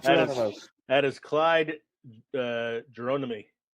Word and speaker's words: Geronimi: It's not Geronimo. No, it's not Geronimo. That is Clyde Geronimi. Geronimi.